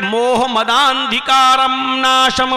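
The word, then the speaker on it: मोहमदान्धकारनाशं: मोह मद अंधिकारम, हिंदू भाई इस पर एतराज कर सकते हैं क्योंकि उच्चारण ये नहीं है, प्रोनाउंसिएशन ये नहीं है। प्रोनाउंसिएशन क्या है उसको मैं अब पढ़ रहा हूं। अज्ञान हेतु किरत मोह मदांधिकारम नाशम विधायम हितदोदयते विवेका। मोह मदांधिकारम नाशम, मोहम्मद के दा को आ से मिलाया जाएगा और खींचा जाएगा।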